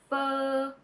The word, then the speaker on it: Phở: vowel, f, f, and adding the tone is f. F, f. Very good. I hope now you can all pronounce f correctly.